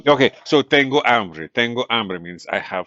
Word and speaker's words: hambre: So hambre, here's your vowel pronunciation. Hambre with an a is hunger. Hombre with an o is a man, right?